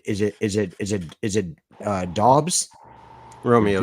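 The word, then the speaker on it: Doubs: it is it is it is it uh dos Romeo dos yeah Romeo dos um yeah I think you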